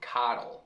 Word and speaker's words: coddle: O O tem a pronúncia de A, mais uma vez, e não O, mesmo tendo um magic E no fim. Cod, code, coddle.